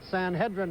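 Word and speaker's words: Sanhedrin: Well, fellas, I'm right here with the Darby Dan horse, San Hedrin.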